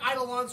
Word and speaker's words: Eidolon: It's spelled. It sounds like Eidolon, so it looks like an I.